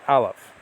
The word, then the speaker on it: Aleph: The only Hebrew letter that designates a Greek New Testament manuscript is this letter, Aleph. It's a silent letter, by the way.